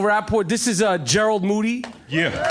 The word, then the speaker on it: Moody: this is uh gerald moody yeah his last name rhymes with duty that's true uh my